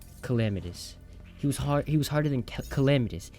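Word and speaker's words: Calamitas: He was harder than Calamitis, I've been saying his name wrong. It's Calamitis.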